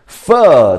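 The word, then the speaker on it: phở: 大家，这个是什么食物？Fur. 对大家，这个是读 fur，不是念 fur 哦。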